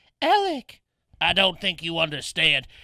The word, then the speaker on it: Alex: Well, it's spelled like Alex, but it's pronounced Alec.